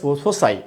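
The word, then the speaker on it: foci: শিউলি রয় join করেছেন আমাদের সাথে, বলছেন ফোসাই। উচ্চারণটা ফোসাই হবে। হ্যাঁ, এই যে ফোকাস আছে না, ফোকাস, এই উচ্চারণের যখন প্লুরাল হবে এইটা হবে কি হবে? কি করতে হবে? ফোসাই। উচ্চারণটা হবে ফোসাই।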